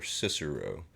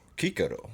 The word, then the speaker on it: Cicero: you see a C, it's pronounced as a K.